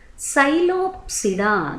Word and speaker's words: Psilopsida: Psilopsida, that P is silent and example is Psilotum.